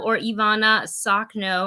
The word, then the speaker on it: Ivanna Sakhno: Ivanna Sakhno, I believe is how it's pronounced.